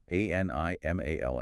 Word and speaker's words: animal: However, the English brain targets the first syllable. The stress lands heavily like a hammer on A-N. Because A-N steals 100% of the vocal energy, the rest of the word is starved.